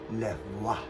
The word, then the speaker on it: Levoit: But my wife, rather smart, has told me that it's pronounced Lavoit.